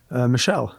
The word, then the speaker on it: Mischel: incorrectly that's fine that's okay how does one pronounce your name judah judah last name michelle michelle so you seem to me like a very